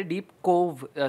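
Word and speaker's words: Deep Cove: कोव् मी पण खूप वेळा डीप डव म्हणायचो जेव्हा आधी जायचं तेव्हा कारण की बातम्यांमध्ये बऱ्याचदा तेच चालतय की डीप डव डीप हा तर ते डीप कोव् सी ओव्ई असं त्याच स्पेलिंग आहे आणि तिथे लग्न करायचं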